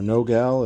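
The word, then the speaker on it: nogal: South American Walnut or Nagal or no gal as I've heard it pronounced and then right now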